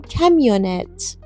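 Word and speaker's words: camionnette: توی فرانسه میگیم کمیو یا توی فارسی میگیم کامیونت توی فرانسه میگیم کمونت و تراکتورم از همون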